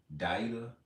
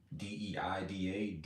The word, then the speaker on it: Deida: So, and I always go back and forth about how to pronounce this man's name. David Deida, D-E-I-D-A, Deida.